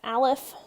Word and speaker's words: aleph: refer to this as this symbol here you'd pronounce that as alef not I left not right aleph is just a Hebrew letter Capital Hebrew letter with a subscript of zero pronounce that as aleph not um that is it's the it's the